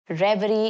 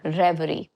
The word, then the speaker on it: reverie: Be careful with the pronunciation. It is reverie. It's not reverie or reverie. No, reverie.